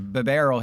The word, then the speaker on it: Bibarel: Because they tried to put me in a They could have beat me over a a Bibarel here. That's how you pronounce Bibarel, by the way, for those of you who didn't who didn't watch the short.